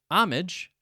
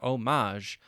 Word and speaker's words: homage: According to the Oxford Dictionary that I have on my computer, homage, with the main syllable stress or emphasis on the first syllable, not the second.